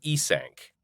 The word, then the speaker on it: Eank: of a halfling named Eank, proudly pronounced with the syllables E, as in the letter E, and sank, as in sank my teeth, into that bigot's neck and ripped out his jugular.